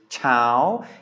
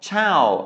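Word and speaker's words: เช้า: as I keep saying, tone marks can't be trusted. This is a long vowel, it's a live syllable, and it has mai to, but with low class consonants, mai to makes a high tone. So this is Chao. It is not Chao, as you might expect from what you've learned about mai to.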